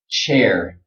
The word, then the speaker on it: chair: Okay, this word chair, chair, chair. If you want to pronounce this sound correctly, you have to be strong right here around your lips. It has to be very tight.